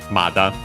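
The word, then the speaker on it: まだ: Accent on the first mora. Mada. Now, there technically is a variant in pronunciation Imada, which is an accent according to the online dictionary, but we'll see it better when it shows up. Usually nowadays in contemporary Japanese, Mada, so even easier.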